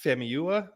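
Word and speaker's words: Famuyiwa: beginning um so this episode directed by Rick famiyua is how you pronounce his name uh Mandalorian veteran veteran um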